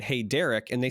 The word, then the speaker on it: Darick: my name written uh my name is Derek but it's spelled d-a-r-i-c-k because yeah Rick so